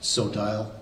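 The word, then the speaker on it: Sotile: Sodile. Spell it for me.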